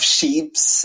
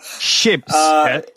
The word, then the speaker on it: ships: bought you you have sheeps uh wait wait wait wait for pronunciation we have to be careful ships ships ships and boats ships and boats because if you say sheep then i i i